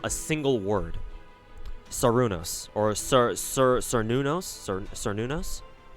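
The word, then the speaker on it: Cernunnos: Yeah, Celtic doesn't have any soft C's; they have hard C's. So yeah, pronounced with hard K's, or like hard K's. So yeah, Cernunos, not Cernunos.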